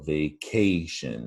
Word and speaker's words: vacation: And down below, vacation, that's the stressed syllable right in the middle.